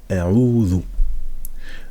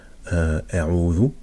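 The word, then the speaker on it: أَعُوذُ: Donc ça va être, on va le prononcer Qul. Maintenant on va dire a'udhu.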